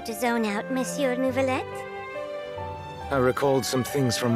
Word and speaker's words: Neuvillette: zone out miss your nouveaulette I recalled some things from my past events from a very long time see how she said nouveau you said it right whoa to me humanity